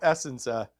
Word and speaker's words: Essensa: Well, that would leave it to Mark Habscheid or Bob Essensa, or Senza, I guess is how you say.